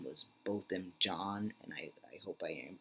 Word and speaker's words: Botham Jean: the last name and I thought it was pronounced Jean but I watched a news report that pronounced it John so I think it's both him John and that's all I'm